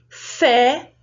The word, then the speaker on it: fé: Fé pode ter esse som da letra E, fé, com o sinal gráfico. Mas se eu tirar o sinal gráfico, eu mudo o som da letra E em algumas situações.